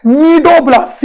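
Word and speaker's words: cnidoblast: नीडोब्लास्ट, CNI, सी silent है, सुनाई नहीं देगा, दिखाई जरूर देगा, CNI, नीडोब्लास्ट।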